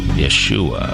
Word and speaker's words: Yeshua: Joshua is Yeshua or Yeshua in Hebrew, and Yeshua is also